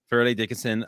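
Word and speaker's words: Fairleigh Dickinson: went to uh is it fairly am i pronouncing yeah yeah fairly dickinson um how was the recruiting process were there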